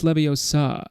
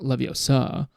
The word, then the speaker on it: Leviosa: you're saying it wrong it's levio sir not levo sir but here's the thing